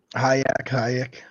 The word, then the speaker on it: Hayek: I think that's how you say it. Hayek.